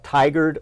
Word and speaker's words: Tigard: I appreciate you pronounced Tigard right.